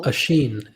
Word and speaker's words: Oshin: Oshin. It's Oshin, like Usher. Oh, is it? Oh man, Oshin. How's that? Oshin. Yeah. Yeah, like you're sneezing.